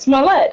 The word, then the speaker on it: Smollett: Smollett, yeah.